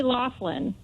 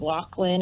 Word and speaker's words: Loughlin: is pronounced the same I think so I say Laughlin I don't know I heard some people the media I've heard say Laughlin as well I have also heard Lachlan and different so who